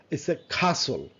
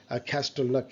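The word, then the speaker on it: castle: ফাঁকে ফাসেন seat belt খাসল খাসল ক্যাসল বলে অনেকেই ক্যাস্টল খাসল ওয়াচ ওয়া ওয়া রাইট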